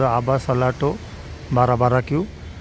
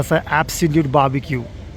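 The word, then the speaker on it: Absolute Barbecues: क्या नाही ब्सोलुट बाबीक्यू पहिल्यांदा आलो तेव्हा असच वाचलं होत आबा सलाटो बारा बारा क्यू त्याच प्रोनन्सशन ब्सोलुट बारबक्यू जुडि चालू आता नाशिक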